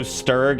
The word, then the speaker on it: Sturg: Okay, since apparently I think I get it's a soft G when it's the full name, but the shortened version has usually been a hard G. So, oh, so Sturg and then Sturgitron?